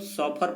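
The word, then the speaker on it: chauffeur: 67 number word है दोस्तों सॉफर, इसको हम लोग सॉफर प्रोनाउंसिएशन करते हैं।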